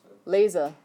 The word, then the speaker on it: lese: Lese. So it's pronounced like lays.